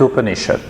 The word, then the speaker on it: Upanishad: What is Upanishad? Upanishad is a Sanskrit word. It has got 3 syllables. Upa, Ni, Shad.